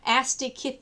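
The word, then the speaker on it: Osteichthyes: to the next class which is pronounced asti kit these okay um and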